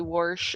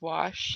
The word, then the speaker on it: wash: I heard first Grammy used to say warsh instead of wash oh my gosh ex